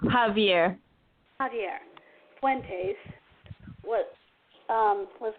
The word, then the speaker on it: Xavier: actually my cousin's son xavier or xavier javier it's pronounced javier javier fuentes was um